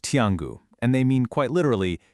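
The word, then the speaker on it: 天狗: Those characters for Tangu, well, in Chinese, they're pronounced Tiangu, and they mean quite literally heavenly dog.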